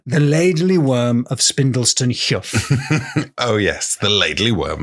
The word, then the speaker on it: heugh: Stone ah and a huff is is exactly exactly that it's a it's a cliff especially an overhanging Cliff now I'm saying Huff because I think that's the northeastern pronunciation of it it's spelled h e